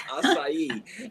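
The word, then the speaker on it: açaí: acai that's another one most people don't even pronounce it right but it's acai and that one again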